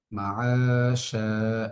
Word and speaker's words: معاشا: মাআশা, এখানে আইনের মধ্যে একাধিক টান হচ্ছে, কারণ জবরের বাম পাশে খালি আলিফ, শিনের মধ্যে হচ্ছে একই নিয়ম।